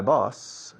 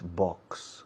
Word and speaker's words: boss: My boss, y si dice boss, por favor no digáis box. Box es caja. Boss. Es curioso que os cueste pronunciar la X, pero luego con la palabra boss me dais una X siempre. Y estoy desesperado pensando, tirándome los pelos. Boss, un S simple, un S líquida, boss.